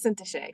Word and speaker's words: Syntyché: But I want her to tell you her name and how the proper pronunciation for it. Thank you, my friend. My name is Syntyché.